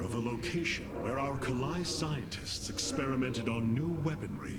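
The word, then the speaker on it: Khalai: You know, I feel like someone made a conscious decision, by the way, to have the voice actors pronounce Kalai, now it's Kalai. Whereas in the original game, they definitely had said Kalai.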